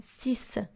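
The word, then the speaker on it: six: so we have here the x is silent that s is silent and in sis and this we have the s sound instead of the x sound sis and in set the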